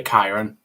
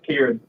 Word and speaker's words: Kieran: on the chat here is it Kiron is that how it's pronounced or are we absolutely butchering this name is it Kieran apparently it's Kieran I've been told by one of all